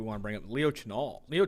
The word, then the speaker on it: Chenal: On another linebacker we want to bring up, Leo Chenal. Leo Chenal took a massive, massive rise up PFF's draft board. It's pronounced Schnell.